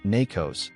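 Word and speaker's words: Nacos: From that initial foothold, the agent pivoted to a production server running MySQL and Alibaba Nakos, pronounced Nakos, harvested credentials, and established persistence inside the network.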